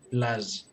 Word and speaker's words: plaj: Esta J, digamos, si la pronunciamos Y, prácticamente la sacamos es haciendo vibrar los dientes. Y. Ese sonido. Eso es plage.